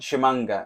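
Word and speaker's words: Tshimanga: goes what sorry and I went shamanga and she goes oh okay uh how do you spell that and I went T and she went tea yes tea silent T silenty now to talk a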